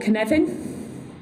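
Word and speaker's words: Cynefin: It's called Kinevin. Now you see how it's spelled. That's the hardest thing about Kinevin, is being able to spell it.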